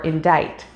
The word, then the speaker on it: indict: see them elsewhere c c is silent after s as well as before i e or y as in science or indict when it is paired